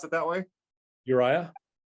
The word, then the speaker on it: Uriah: on that David had set for her husband you're a would you pronounce it that way Uriah Uriah thank you and twice David asked him to